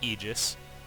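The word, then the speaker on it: Aegis: And yes, it's pronounced Eegis.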